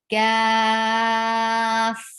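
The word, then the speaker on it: كاف: Kaf is a soft letter, and there are three letters involved to pronounce the name of this kaf, this letter. So the first letter is kaf, second letter is alif, and third letter is fa.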